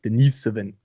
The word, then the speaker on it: Denisovan: denisovan perhaps uh right but we were saying it wrong and so are other people but it's it's russian so you put the emphasis on the east like denisovan denison right dennis give